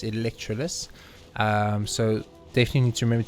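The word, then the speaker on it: Electroculus: electrolus up there electro this is the right pronunciation um i always want to say elect choculus but it's electroless so definitely need to remember to do about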